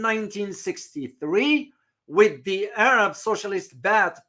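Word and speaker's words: Baath: with the Arab socialist bat party or bat a party that's how pronounced in Arabic bath party which were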